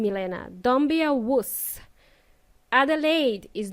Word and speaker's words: Adelaide: Adelaide is not too bad, he said. I said, shush, it's pronounced Adelaide.